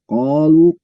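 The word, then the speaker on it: قالوا: Jadi qalu ko ya, qalu ko itu ko fathah ada alif, berarti kan 2 harokat bacanya, itu namanya mat asli atau mat tobi'i, itu dibaca 2 harokat, tidak kurang tidak lebih, hanya baca 2 harokat.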